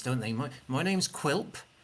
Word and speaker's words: Quilp: My name's Quilp. Quilp. That's spelt with a Q, a U, an I, an L, and a P.